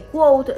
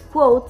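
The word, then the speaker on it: Kvothe: ahí nos damos cuenta que quot no es coat sino que es quo que aunque se pronuncia bastante parecido son muy diferentes waters capote ska v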